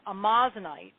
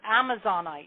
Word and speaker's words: amazonite: And then the next stone, the last stone is amazinite or amazonite. A lot of people, it's spelled amazonite.